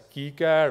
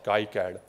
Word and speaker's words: KiCad: You can pronounce it as KiCad or KiCad, okay?